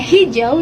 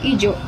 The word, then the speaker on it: hijau: Dalam bahasa Indonesia baku, kata hijau dimulai dengan konsonan H yang tidak ada dalam kata ijo. Nah, bunyi H ini penting untuk memberikan kejelasan dalam pengucapan dan membedakan kata tersebut dengan kata yang lain yang mungkin serupa.